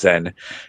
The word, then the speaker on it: Zan: to somebody a guy his name is Zen and it's spelled Zan but it's Zen and order some belts